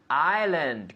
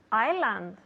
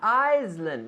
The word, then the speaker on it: island: the people at home Island good because it's not Iceland no no s well there is an S but we don't pronounce it we say island island